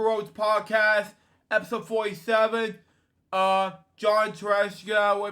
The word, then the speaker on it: Tartaglia: John Tartaglia, we pronounce it, actor, puppeteer, and director.